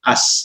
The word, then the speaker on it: AS: Bacanya bukan Amerika Serikat, betul-betul dibacanya AS gitu loh.